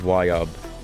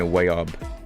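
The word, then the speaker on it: Wayob: and grants us blessings it is wab I was pronouncing it wrong yesterday wab is that a god of some sort I was pronouncing it weab s of We Believe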